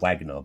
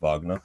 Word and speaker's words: Wagner: we see a w and we think oh wagonal but no like the way it's actually pronounced is vagina and I dare say just